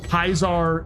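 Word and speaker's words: Kaiser: Like Kaisar is literally uh Caesar. It's just a German pronunciation of Caesar.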